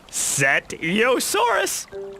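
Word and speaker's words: Cetiosaurus: Setiosaurus here. Let me say it slowly for you. Setiosaurus.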